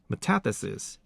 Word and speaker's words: metathesis: The stress usually falls on the third from the last syllable. Examples like metathesis, 前后错位, not metathesis.